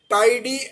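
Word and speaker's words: tidy: তো অনেকে অনেকে টিডি অন টিডি বলে, যেভাবেই তুমি বলো না কেন, উচ্চারণ করো না কেন, আমরা ব্রিটিশরা সবসময় এটাকে টাইডি বলি, আমাদের উচ্চারণে আইটাকে আমরা জোর দিই।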